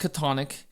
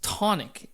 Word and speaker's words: Chthonic: to uh correct me he said it's not pronounced katonic it's not pronounced cathonic it is pronounced tonic it is Taiwanese um I don't know what